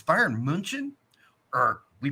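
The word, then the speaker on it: München: Brits print out Bayern Munich when it's Bayern Munchen or we pronounce it cologne when it's good so we're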